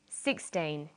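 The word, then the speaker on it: sixteen: Usually the first syllable in a number is stressed. 16, 60. Notice that it's the final N in teen that you have to be careful with. Teen, T.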